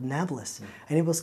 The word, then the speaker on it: Nablus: And because the Arabs of the Middle East can't pronounce the letter P, they call it Nablus instead of Napolis.